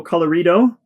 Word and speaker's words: Colorido: Made by Studio Colorido. Hopefully I'm pronouncing that one right. It almost sounds like Colorado, but with an I.